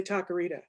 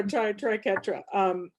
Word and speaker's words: triquetra: I always want to say taquerita. It's in my head and I can't get it out. Please. I know. So triquetra. And then me, we're following